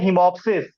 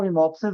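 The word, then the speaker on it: hemoptysis: इसको हम बोलते हैं हिमोप्सिस। ठीक है, ये हिमोप्टोसिस लिखा हुआ है, लेकिन ये पी साइलेंट रहता है, ठीक है, यहाँ पर, तो इसको हिमोप्सिस बोलते हैं।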